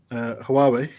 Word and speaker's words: Huawei: Earlier on, when you were talking about your phone saying, and you mentioned, how's it pronounced? The make? Huawei.